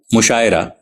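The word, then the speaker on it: مشاعرہ: के सुकून के साथ मुशायरा मीम के पेश के साथ और आन के जेर मजहू के साथ मुशाहिद हे के जबर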